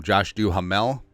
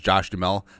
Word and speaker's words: Duhamel: Oh, also, so, the video couple days ago I called him Josh Duhamel as opposed to just Josh Duhamel because the ha is silent.